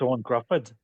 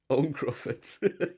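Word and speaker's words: Ioan Gruffudd: Uh, is it Eoin Gruffod? How do you say I his think name? it's Owen Grufford. Owen Grufford. Grufford.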